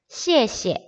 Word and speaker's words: 谢谢: 셰셰라고 말을 하는데 우리 이제 한어 병음을 배웠기 때문에 셰셰라고 말하면 안 돼요. 여기 나와 있는 거 이에에다가 시옷 발음, 이에에다가 시옷 발음, 시에시에. 똑같은 글씨가 반복됐을 때 두 번째는 경성으로 바뀝니다.